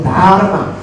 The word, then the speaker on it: Dharma: One is Pali, one is in Sanskrit, I think. In Sanskrit, we call Dharma. In Pali, Dhamma.